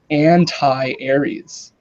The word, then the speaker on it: Antares: And anyway, so he has a Sagittarius moon, but it's the Antares moon, which Oh, phonetically is anti-Aries.